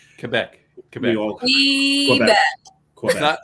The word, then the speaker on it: Quebec: I pronounced it the French way. Quebec. Quebec.